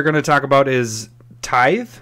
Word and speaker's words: Tithe: to talk about is Tithe, right? Yes. Is that how I pronounce it? All right. I call it Tithy. Tithy. You pronounce that E at the end.